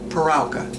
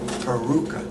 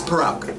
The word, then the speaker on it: Parauka: I pronounce it Parauka. Parauka. But my brother pronounces it Parauka. Parauka. And I don't like that. My father said Parauka, so it's Parauka.